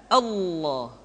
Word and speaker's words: Allah: sebelumnya yang ketiga adalah pengucapan lafaz Allah lafaz Allah di manapun kapanpun maka lam yang terdapat pada lafzul jalalah tersebut mesti ditebalkan Allah Rasulullah kecuali kalau lafaz